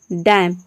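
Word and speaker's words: damn: तो इन सभी वर्ड में देख रहे हैं वर्ड के लास्ट में ही आता है एम एन, एम एन, एम एन। तो यहाँ पे एन जो है साइलेंट है, केवल हम एम को प्रोनाउंस करते हैं।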